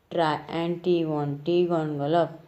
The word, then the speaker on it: Triantiwontigongolope: end he once again asks the reader to pronounce the name, that is Tri-Anti-Vonti-Gongolov.